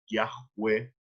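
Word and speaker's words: Yahweh: van a decir que la pronunciación más aproximada es viaje web y esto es lo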